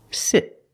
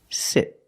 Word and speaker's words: sit: Sit. Sit.